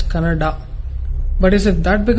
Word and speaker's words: Kannada: it's kannada or kannada people from North India should understand that it is pronounced as kannada but is it that